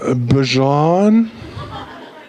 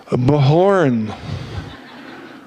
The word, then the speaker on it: Bjorn: that how you know I hear so many versions you know from bhishan right to be John like the mustard right Bijan no but in the in a Spanish context of Filipino context many times the J is pronounced like an H right is this correct yeah so many times I get this Mahorn right or even worse they call me B horn and sometimes even you